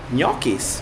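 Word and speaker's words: ñoquis: And pay attention, here are the gnocchi, which here are written G with an N and a quotation mark above it, which is precisely pronounced Gnokis.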